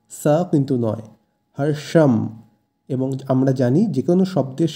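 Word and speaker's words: হর্ষং: এরপর আছে হর্ষাং এখানে কিন্তু মধ্যন্য আছে তাই উচ্চারণ হবে সা কিন্তু নয় হর্ষাম এবং আমরা জানি যেকোনো শব্দের শেষে অনক্ষর থাকলে সংস্কৃতে সেই অনসরের জায়গায় ম এর উচ্চারণ হয় তাই এক্ষেত্রে হবে হর্ষাম এই শব্দের অর্থ হর্ষ বা আনন্দ বা পুলক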